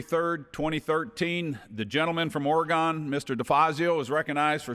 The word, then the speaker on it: Oregon: one minor point of we say oregon and since the ducks are going to win the national championship this year we want to make sure everybody knows how to say it properly thank you i rise